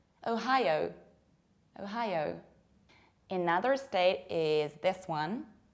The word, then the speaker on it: Ohio: And people usually pronounce it like Ohio with very square O. Whereas in fact, we pronounce it like Ohio. You have O, high, like high. And again, O, high, O. Ohio, Ohio.